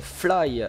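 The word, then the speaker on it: F.L.Y.: restaurants, bars, hôtels thématiques, également une impressionnante attraction Fly, F-L-Y, comme ça se prononce.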